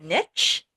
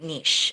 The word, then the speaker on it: niche: And some people pronounce it niche and some people pronounce it niche. I pronounce it niche.